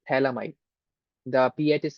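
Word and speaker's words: phthalimide: a nitrogen and the entire thing is called talamide. The pH is silent. We call it talomide.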